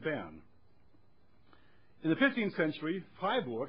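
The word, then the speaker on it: Freiburg: in the 15th century hi Borg and I pronounce it German this time because it was your own it came in and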